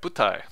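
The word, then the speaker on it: 舞台: Okay, butai. So again, let's schedule that in, and then we'll color it red because it's got the accent on the first mora.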